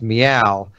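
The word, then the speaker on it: Myau: spelled my a you I assume it is pronounced meow because it is a cat it is some sort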